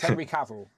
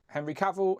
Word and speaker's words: Henry Cavill: It's Henry Cavill. Henry Cavill, Henry Cavill, Henry Cavill.